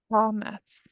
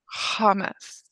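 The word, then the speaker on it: חמץ: Hamas. Right. And which syllable do we pronounce accent? The second. All right. Od palm. Once again, how do we say it? Hamas.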